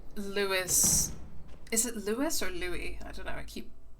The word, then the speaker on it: Louis: They say Louis, but it's usually pronounced Louis without the S. Yeah, that's what I thought, because it's French. No, so it's pronounced Louis.